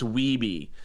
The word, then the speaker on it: Wiebe: It's Wiebe."